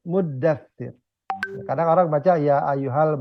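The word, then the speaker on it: المدثر: Dia bacanya ya ayyuhal mudassir ya. Karena memang enaknya gitu ya, karena kalau muzammil ya ayyuhal muzammil ya. Ya ayyuhal muddatsir.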